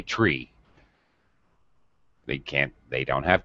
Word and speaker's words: three: our tree but apparently when you're using this alphabet when you're up I don't know pilot or whatever you're supposed to say tree and that's it also that's new for